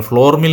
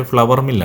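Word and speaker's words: flour: ഫ്ലോർ എന്നാണ് നമ്മൾ പറയാറ് ഫ്ലോർ മിൽ എന്നാണ് പറയാറ് പക്ഷെ ഫ്ലവർ മിൽ ആണ് ഞാൻ മുൻപ് അതിനെപ്പറ്റി പറഞ്ഞിട്ടുണ്ട് മുമ്പത്തെ വീഡിയോയിൽ ഫ്ലോർ മിൽ എന്നല്ല അതിന്റെ ഉച്ചാരണം ഫ്ലവർ മിൽ എന്നാണ് അപ്പൊ നമ്മൾ വിചാരിക്കും പൂവോ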